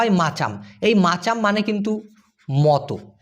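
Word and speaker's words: macam: এম এ সি এম উচ্চারণটা হয় মা এম এ মা তারপর হচ্ছে চা সি এ চা আর এম এ হলো ম তাহ মাচাম এই মাচাম মানে কিন্তু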